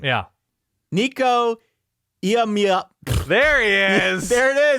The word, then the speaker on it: Iamaleava: I refuse to pronounce their quarterback's last name until I'm absolutely forced to in this moment. But it's Iamaleava.